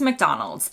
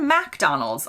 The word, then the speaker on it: McDonald's: chain in the US it's always McDonald's emphasis on Mick in the UK I hear MacDonald's a lot not necessarily exclusively